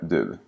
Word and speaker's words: du: Vad sa du? Lägg märke till hur vi aldrig uttalar det i frågeordet vad. Tänk också på att du uttalas som ru med r och inte som du med d. Du hittar en djupare förklaring